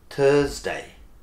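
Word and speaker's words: Thursday: কিন্তু অনেকেই কষ্ট করেন, এটা হচ্ছে থার্সডে, থার্সডে না, অনেকেই বলেন থার্সডে, বাপরে বাপ এরকম না, থার্সডে, THURS, থার্স, যখন থার্স বলবেন তখন এই যে আটটা আছে এটার উচ্চারণটা হয়তো আপনি করবেন 40%, ওকে, যে থার্স ডে।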